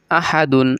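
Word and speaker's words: أحدٌ: পেশ দুন আহাদুন আহাদুন এখানে কিন্তু তাড়াতাড়ি বলতে হবে পূর্বেই বলে আসছি যে তানবিনের উচ্চারণ কিন্তু তাড়াতাড়ি করতে হয় আহাদুন এখন এখানে এভাবে আপনি বলতে পারবেন না যে আহাদুন এভাবে বলতে পারবেন না গুণনা করে বা আহাদুন এভাবে বলতে পারবেন না তানবিনের উচ্চারণ তাড়াতাড়ি করতে হবে আহাদুন সদ জবর স মিম জবর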